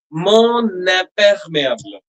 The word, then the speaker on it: mon imperméable: after ton and son, when there is a vowel coming, the final n, is linked to the next vowel. So we pronounce like this. Mon n'est perméable.